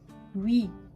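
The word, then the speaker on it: ㅟ: Après, on a oui. Oui, comme en français, hein, oui.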